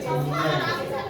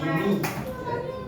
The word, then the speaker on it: Gemini: Gemini atau Gemini ya, bacanya Gemini, bukan Gemini.